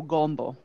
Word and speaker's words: gumbo: you can tell because in like south louisiana when they say they're o's especially they will round out their o so you would hear gumbo so let's obviously gumbo